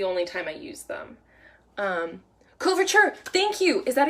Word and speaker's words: couverture: is almost the only time I use them couverture thank you is that how you pronounce it yes we've got someone on instagram